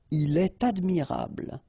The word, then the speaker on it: il est admirable: So like here, for instance, il est admirable, il est admirable, okay, elle est intéressée, all right, so in all these cases you should make the liaison, and in that case it's with T.